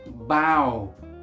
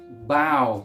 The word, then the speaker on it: bow: definition number three it's a verb and it's pronounced bow bow which is when you do this you bow